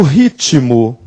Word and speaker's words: ritmo: sonoro então ele permanece Quando eu digo ritmo É ritmo e ritmo de festa e se te é mudo não porque senão Silvio Santos não cantaria assim esse ter sonoro Tá certo então aqui